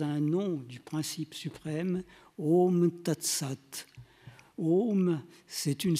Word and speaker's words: Om: Om, c'est la contraction des sons A, le son A qui se prononce au fond de la gorge, le son U qui se prononce au niveau des lèvres, et puis une nasalisation qui fait intervenir les fosses nasales.